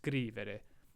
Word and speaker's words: scrivere: Remember how we covered how ere verbs, sometimes the emphasis is on the third to last syllable, sometimes it's on the second to last. Well, scrivere is one where it's on the third to last, scrivere.